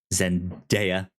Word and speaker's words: Zendaya: I think it's Day. Zendaya.